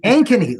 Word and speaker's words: Ankeny: out specifically looking at anony how did I do there Joel an better anony with a long a okay one of the things that I found out by looking at Ankeny is that let me